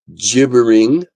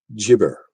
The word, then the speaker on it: gibber: Question: How did Gary you pronounce? The word is Gibbering, mouther. Is it gibbering or gibbering?